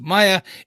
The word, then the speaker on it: Maya: I think, so basically where this comes from is, obviously her name is pronounced Maya in the show.